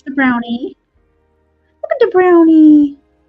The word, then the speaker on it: brownie: Look at the brownie. Bruni. You're supposed to call him Bruni, though.